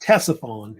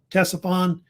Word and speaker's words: Ctesiphon: was a city called, I think it's pronounced Ctesiphon, is how they say it. Ctesiphon.